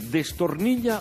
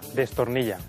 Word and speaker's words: desternilla: o discreción discreción correcto cuando uno se muere de risa decimos que se desternilla o se desternilla destornillar no es correcto la locución latina a